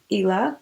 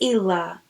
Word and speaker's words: Islay: is located on the Isle of Islay ela I think it's ela it's the way you pronounce it and where you can